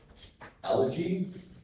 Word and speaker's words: elegy: This is the only pronunciation I've provided. Allergy. Elegy is Greek to Latin.